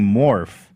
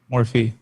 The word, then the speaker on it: Morphe: Anyway, um, so regarding Morph, uh, who has made millions of dollars off a known predator, Morphe.